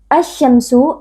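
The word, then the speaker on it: الشَّمْسُ: Asy-syamsu, alif lam asy-syamsiyah, karena ada alif lam yang bertemu dengan salah satu huruf syamsiyah yaitu huruf shin. Cara membacanya, alif lamnya kita idghamkan atau kita leburkan ke dalam huruf shin.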